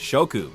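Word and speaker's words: 色: In translations, the original nuance is often lost, but in Japanese, each of these specific names carries a kanji character that directly signifies color, which is pronounced shoku.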